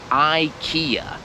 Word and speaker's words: IKEA: sklep to jeszcze raz ta firma po angielsku się wymawia i kija Ikea druga firma oczywiście jest